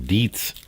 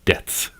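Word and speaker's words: Dietz: Beth of a salesman weighs in to say it's dde e tzed is the pronunciation. Deets. I think we'll have to throw up a poll before he says anything out loud in the uh video that has his testimony. Is it deets or debts?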